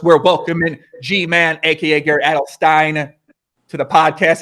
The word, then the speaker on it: Adelstein: by the way, like you've been saying my name wrong for years." I don't really give a but then he like felt terrible and he's like, "All right, new day." Like, I'm gonna start saying it right. So, anyway, but yeah, you got it. It's Alstein. Edstein.